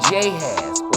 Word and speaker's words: Jahaz: and attacks them at Jahaz. Or there was no J, there was no pronunciation for J back then, so it would have been more pronounced Yahaz.